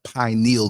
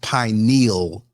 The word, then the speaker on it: pineal: just want to say it's pronounced pineal, not pineal, okay? It sounds so ignorant when I hear people say pineal. It's not a needle, it's a gland, pineal, okay?